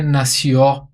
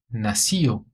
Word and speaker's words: nació: Aqui, na pronúncia do nació. Não é nació, não, hein? Cuidado. É nació. Io. Nació.